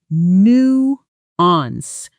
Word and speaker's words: nuance: This word actually comes from French originally, and that shows in the pronunciation. That first syllable isn't nuance, it's closer to nuance, with a soft, almost swallowed ending.